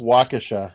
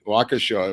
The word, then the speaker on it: Waukesha: where it was right right um whatever that pronunciation of that town is waukesha but wakasha it was yeah i think right right let's see let's not be local right could be bad wukasha well you're a new yorker so you haven't